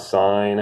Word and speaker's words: sine: the sign it's written it's pronounced sign but it's usually written like this like cents in but